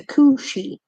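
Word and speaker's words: Cù-sìth: you like being like being killed by the Kushi is how you pronounce it or the green dog of the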